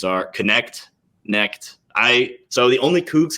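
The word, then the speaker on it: Knecht: You pronounced Dalton Connect without the K. I have heard the K.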